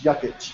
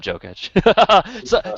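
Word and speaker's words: Jokić: Like, you know, again, Jokic. You know, I would have liked to see him go. Wow. By the way, I'm not. It's Jokic, just as FYI. I know. I just like calling him Jokic.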